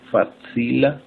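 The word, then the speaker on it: facila: La C se pronuncia como C. Tsa, tse, tsi, tso, tsu. Fatsila, belezo.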